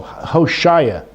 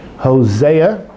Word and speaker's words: Hosea: So look in Hosea, that's how you say it in English, Hosea, chapter 9, verse 10.